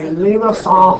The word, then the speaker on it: limaçon: When you see a sum out front, it'll usually indicate a limaçon. It doesn't have to, but usually limaçon. Okay, it's French. The correct pronunciation is actually limaçon.